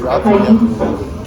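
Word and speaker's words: Taiese: Alright, so part of my pronunciation, so it's Thais, T-A-I-E-S-E, same middle name, and then.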